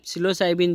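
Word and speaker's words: psilocybin: एंड सिलोसाइबिन, ये सिलोसाइबिन जो है, पी साइलेंट है, सिलोसाइबिन जो है ये है।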